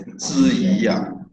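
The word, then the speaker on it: 智顗: His name is pronounced as Zhi Yi.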